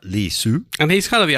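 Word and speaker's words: Li Si: Li Su, the PM type guy, Li space S-I is his name, but I think it's pronounced something like Li Su.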